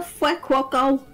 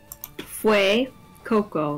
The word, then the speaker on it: Fuecoco: Are you dissing the Fuecoco? How the hell should you pronounce that name? Fue Coco. Like, think of Fuego is fire in Spanish, and then Crocodile Coco, like Crocodile.